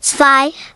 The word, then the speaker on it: zwei: Here are the German numbers from 1 to 10, along with their pronunciations, eins, pronounced like eins, zwei, pronounced like tsvy, drei, pronounced like dry,